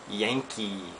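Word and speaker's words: ヤンキー: of personality is the Yankee pronounced just like Yankee okay the English Yankee word okay and the Yankee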